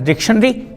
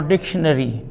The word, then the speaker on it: dictionary: way dictionary to either you could pronounce it as dictionary or dictionary both the pronunciations are correct okay if her uncle's